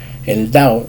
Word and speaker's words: 道: Y la segunda en sí, que es el dao se va a estar imponiendo, se va a estar haciendo de manera impositiva o imperativa, porque es la forma, el tono de pronunciación, el cuarto tono de la pronunciación, mientras que el interrogativo es el segundo tono.